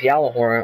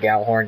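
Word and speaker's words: Gjallarhorn: everyone was talking about this yah horn or some people pronounce it g horn yah horn um a lot of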